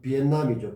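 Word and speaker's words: Việt Nam: 여러분들 베트남 하지만은 좀 더 원어에 가까운 발음은 비엔남이죠.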